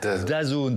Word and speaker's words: DAZN: la chaîne dont vous nous parliez, britannique, s'appelle DAZN, ça s'écrit D-A-Z-N.